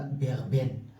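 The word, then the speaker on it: Big Ben: بيج بن في العربي تنطق هكذا بيغ بن في بريطانيا أيضا.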